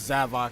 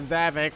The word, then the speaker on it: Zavok: back za Bach yes his name is Sava it's not zavok we thought his name